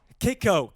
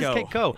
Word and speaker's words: Kayko: Kayko here on Live Music Showcase. Is it Kayko or Koo? Kayko. It is Kayko.